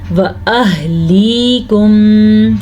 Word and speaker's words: وَأَهْلِيكُمْ: اور چھپانا بھی ہے۔ وَأَهْلِيكُمْ نَارًا، وَأَهْلِيكُمْ، ہاں کے تلفظ کا دھیان رکھنا ہے۔ یا مدہ ہے، یہ